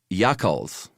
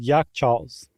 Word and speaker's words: yakhchāl: I'm going to say Yakhchāls. I'm going with the straight-ahead Yakhchāls.